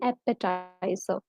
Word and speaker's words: appetizer: So that's called an appetizer. So the spelling is Appetizer. The last R is definitely silent when you pronounce it.